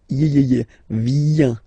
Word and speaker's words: viens: Okay, remember this I, viens, viens, and then this nasal, final S not pronounced.